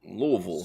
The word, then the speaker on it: Louisville: Louisville. So annoying. There's no Vills.